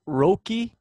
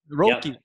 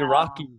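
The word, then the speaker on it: Roque: him this week so is that how you pronounce it roki Martine roki I've been pronouncing it wrong the whole time I was saying rocky as long as you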